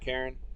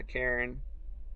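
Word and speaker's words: Karin: Yeah, Karen. Karn. Everybody I've seen play this calls her Karen. I'm assuming that's going to be the proper pronunciation, and it's kind of on purpose, right?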